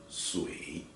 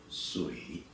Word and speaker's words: 水: Okay, just pronounce as 水. Okay, 水, 水, 水, 水, 水, 水. The third tone, 水.